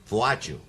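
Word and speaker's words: Władziu: I was christened uh polish for which no one could pronounce called vaju that's and then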